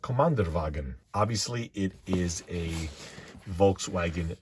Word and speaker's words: Kommandeurwagen: I believe it's pronounced Kommandeurwagen.